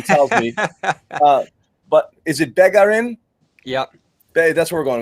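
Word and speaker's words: Bégarin: But is it Begarin? Yep. That's where we're going with Begarin.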